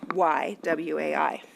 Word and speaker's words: WAI: Web Accessibility Initiative, pronounced WAI, that explains how to make web content more accessible to people with disabilities.